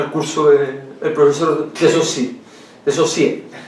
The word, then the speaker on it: Saussure: Saussure, Ferdinand de Saussure. De Saussure. Saussure. Bueno, Saussure, si usted quiere. Claro. se escribe Saussure.